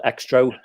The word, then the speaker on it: Xtro: british horror film called extro um spelled like xtro yeah it was interesting